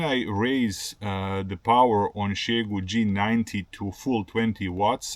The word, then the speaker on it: Xiegu: From this moment on, I'm going to refer to the company as Xiegu, not Xiegu, because I learned that this is the right way to pronounce the name of the brand, so it's Xiegu.